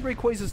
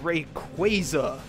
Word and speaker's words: Rayquaza: like Rayquaza's official pronunciation and hate the fan pronunciation when I first heard Rayquaza's name spoken in the anime I thought it sounded awesome Rayquaza it just sounded really cool to me however